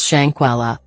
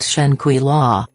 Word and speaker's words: Shanquella: say her name right it's shankwalla not shanquila and secondly if you